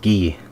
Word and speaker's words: ghee: Now another name for this is called ghee. It's spelled G-H-E-E.